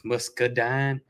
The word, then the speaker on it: muscadine: And we say muscadine. I know it's spelled different than that. I think the pronunciation is muscadine. But everybody around here says musky. I don't know why the E's there.